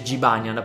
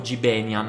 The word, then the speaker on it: Jibanyan: Sì, lo so che si pronuncia Jibanyan, ma nei primi episodi sbagliavo il nome e dicevo Gibenyan, perché non seguivo il